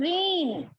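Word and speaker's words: reign: फिर रीन, रैन।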